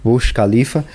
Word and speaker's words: Burj Khalifa: Eu acho que é assim que é a pronúncia, Burj Khalifa, que ele tem 828 metros, tá?